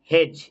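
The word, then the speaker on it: hedge: যেমন দেখো এখানে আছে ব্যাজ, বিএডিজি, এখানে ডি কিন্তু সাইলেন্ট। হেজ, এইচইডিজি, এখানে ডি সাইলেন্ট।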